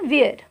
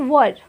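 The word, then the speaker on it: were: कुछ लोग इसको प्रोनाउंसिएशन प्रोनाउंस करते हैं वेयर, बट इट्स नॉट वेयर, इट्स वर.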